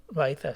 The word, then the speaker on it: Loaiza: ¿Lo he pronunciado bien? Loaiza, sí.